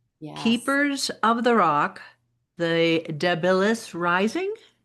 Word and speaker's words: Debilis: Today we are going to talk about your book one, Keepers of the Rock, The Deilis Rising. Is that how you pronounce it?